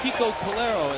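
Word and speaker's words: Kiko Calero: pretty good Innovative casy McGee is how he pronounces it Kiko KERO is how he pronounces it and slider is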